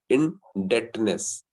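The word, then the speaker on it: indebtedness: Next क्या है, second है क्रेडिट एंड इनडेटनेस. इनडेटनेस, इसको टी साइलेंट होता है इसमें, इन नहीं, बी साइलेंट होता है इसके अंदर, बी साइलेंट होता है. इन डेटनेस इसको बोलते हैं.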